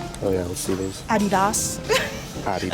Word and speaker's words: Adidas: Adidas. Adidas. As the British say, Adidas.